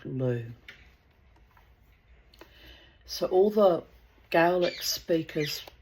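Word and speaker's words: Lugh: So, I'm not sure if I've pronounced it correctly, but I think it's pronounced like Lou.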